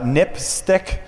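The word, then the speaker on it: NPSTC: Public Safety Telecommunications Commission which is pronounced nip stick which is kind of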